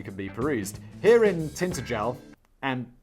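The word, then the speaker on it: Tintagel: be perused here in tintergel and danny provided me a pronunciation guy tin taj let's just call say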